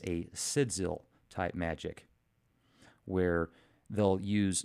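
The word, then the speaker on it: sigil: No, it's not Jill. It's sidzil. That's what I say. But, hey, everybody's got their own way to say it. Most people say it's sidgil.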